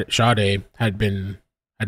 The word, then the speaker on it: Sade: reporting missing or sh they keep saying shade I think that's how it's pronounced it because shade I keep want to say saade but sh at approximately 9:00 p.m.